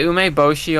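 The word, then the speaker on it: 梅干し: Yeah, the ume bosshi on a giri looks good. Oo, good pronunciation.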